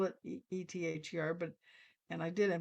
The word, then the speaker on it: aether: ether and spell it e-t-h-e-r but and i did in my book and found out it's actually a-e-t-h-e-r and pronounced ether and we have a